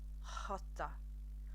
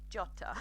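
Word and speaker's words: jota: everybody knows that a J in Spanish is pronounced hot hotter hotter although fun facts if you speak Portuguese you actually do pronounce it jatta but today we're going to be doing hotter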